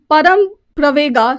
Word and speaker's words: Param Pravega: Which institute has installed Param Pravega supercomputer? Param Praveg, basically, that's the pronunciation.